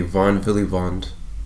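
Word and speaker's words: von Willebrand: this is called the vom Von villivand it's pronounced really Bond Factor is a Von Philly Bond factor and if you have a deficiency in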